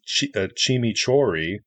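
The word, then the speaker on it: tximitxurri: Millen millenary Woodfired grilled culture brought along it's pronounced chimi chori but it's spelled TX i m i TXU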